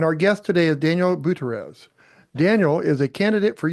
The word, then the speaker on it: Butierez: Daniel Butierez is how you say his last name, you gringo.